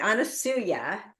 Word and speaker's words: Anusuya: Anusuya is an amazing woman, profound priestess of the